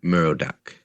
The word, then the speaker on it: Merodach: But okay, no, we're saying it wrong anyways, because this god's name would be Merodach.